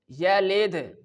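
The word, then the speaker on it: يلد: The fourth one is yalid, yalid, yalid.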